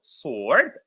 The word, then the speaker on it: sword: So sword, the w is silent.